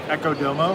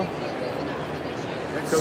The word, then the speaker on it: Echo Domo: Echo Domo. Echo Domo. So the backwards D is irrelevant. It is. It's So It's silent.